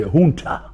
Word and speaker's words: junta: The Spanish actually say junta. Oh yes, I think that's the correct pronunciation.